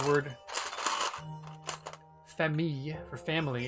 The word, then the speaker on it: famille: It's just, it kind of has a y sound, like famille. I was over exaggerating it, but like, I don't understand, because the L on its own gets pronounced, but then when you double it up and add an E, and it's preceded by an I, it gets the E sound.